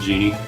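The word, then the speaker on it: Djinn: Oh, you'll also have to get used to how I pronounce Jin. I know the D is silent, it's supposed to be just Genie, but...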